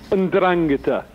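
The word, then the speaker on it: 'Ndrangheta: So the word is, it's Ndrangheta. You put the stress on the second syllable.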